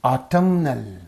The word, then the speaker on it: autumnal: So when it becomes an adjective, the pattern is changing. Autumnal. So here it is, this word is receiving the stress on the first syllable, whereas here it is receiving on the second syllable.